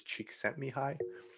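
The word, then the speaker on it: Csikszentmihalyi: undergrad um i think the way that they uh said his name was cheek sent me high i think there's probably different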